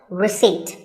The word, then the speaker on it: receipt: in word number 24 receipt the p is silent when you purchase something or you pay a bill you get a receipt now if you don't